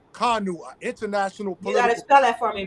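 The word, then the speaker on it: Kanu: k a n u k a n u uhuh yeah not nanu that's it yeah that's it political prisoner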